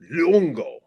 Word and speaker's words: Luongo: So yeah, cuz we we were raised with the three syllables. Um yeah, because I think like all three of my names have three syllables. It's very Italian. Um and Dutch. Uh but the way this old man pronounced it was Lungo.